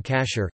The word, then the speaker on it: kashér: Food that may be consumed according to halakha law is termed kosher in English, from the Ashkenazi pronunciation of the Hebrew term kasher, kasher meaning fit.